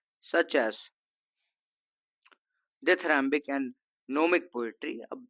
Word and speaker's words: gnomic: अगर मैं इसको लिख दूं, अगर मैं इसको लिखूं तो GNOMIC ग्नोमिक होता है, और ग्नोमिक ना लिख के नोमिक लिखा है, क्योंकि नोमिक इसका प्रोनाउंसिएशन वाला पार्ट है।